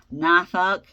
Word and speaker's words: Norfolk: Norfolk, Norfolk, Virginia is how I pronounce it.